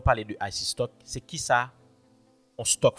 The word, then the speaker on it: Ayisee Stock: c'est i ok donc nous prononcer comme IC stock qui écrit a y